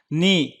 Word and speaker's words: knee: knee چې زنګون. دا کا چې دی دا یا کې چې دی دا نه تلفظ کېږي.